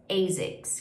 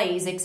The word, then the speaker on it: ASICS: ASICS, que eu acho que a maioria aqui no Brasil fala ASICS mesmo, em inglês é a mesma pronúncia.